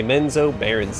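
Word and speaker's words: Menzoberranzan: supernatural speed okay so he said menzo branson which is probably how you're supposed to pronounce it by like giving it a little country twang I say men's Oh Barons and that gives the jowls more of a redneck vibe which is always appreciated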